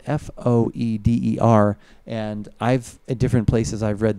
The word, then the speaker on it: foeder: It's like Foeder? Folder without the L.